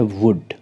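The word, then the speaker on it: would: होता है बातें करना फोर्थ एग्जांपल है वुड तो यहां पर आप देख सकते हैं कि डी से पहले एल है इसलिए वह साइलेंट है इसको हम प्रोनाउंस करेंगे वुड और विल का जो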